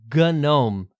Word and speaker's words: GNOME: journey let's focus on the gome desktop project yeah you heard that right and indeed gome spelled